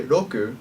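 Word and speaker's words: 六: written as such Roku notice that when I say Roku it's neither an r or an L when you say R sounds in Japanese you don't usually move your lips or your teeth your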